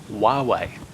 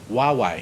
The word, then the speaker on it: Huawei: How do you pronounce it again? Huawei. Huawei. Yep, it's spelled completely different, but It looks is like Hawaii.